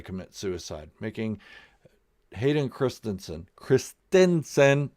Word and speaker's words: Christensen: suicide making Hayden Christensen Christensen that's the way you pronounce it Christensen for all you YouTubers who keep saying Chris Jensen is Chris Stinson any